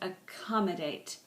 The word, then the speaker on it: accommodate: Accommodate, accommodate, accommodate, accommodate. See, it's stressed, accommodate.